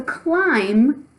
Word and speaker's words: climb: following our rules so climb has a silent B buh buhbuh at the end you can't really hear it okay and now our